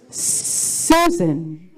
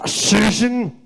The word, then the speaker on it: Shushan: Susan. Your answer is Susan. That is unfortunately not the correct. It's pronounced Shushan.